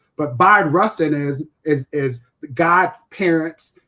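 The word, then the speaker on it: Bayard: Yeah, most people say his name wrong, but the the the trick here is think B like bisexual, but B Rustin is is is god parents to Malcolm and Koretta's kids.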